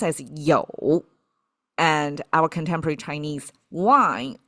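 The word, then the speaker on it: 酒: Um this one pronounced as "jiu".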